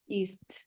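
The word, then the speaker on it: ist: ইএসটি, ইস্ট, এটার উচ্চারণ ইস্ট। ইস্ট। হ্যাঁ, ইস্ট। আচ্ছা, মাইনে নাম মাইনে ইস্ট, ইস্ট। যার যেটা নাম সেটা। যেমন আমরা ইংলিশে ইজ বলি, সেটাই ইস্ট। হ্যাঁ, যেমন আমরা ইংলিশে ইজ বলি সেটাই হচ্ছে আমাদের ইস্ট।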